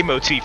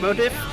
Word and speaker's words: motif: We love a lay motif in this house. I meant to pronounce it motif, but I said motive and then motive.